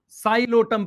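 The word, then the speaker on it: Psilotum: Marchantia, moss में आएंगे sphagnum, poly ट्राइकम, poly ट्राइकम, Funaria, साइलोटम, P silent है, साइलोटम, टेरिस, पी साइलेंट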